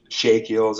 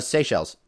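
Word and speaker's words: Seychelles: right the Mal are are threatened the shake shakial I always pronounce that wrong they is it I thought it was uh SE shells exactly that's why like I said I always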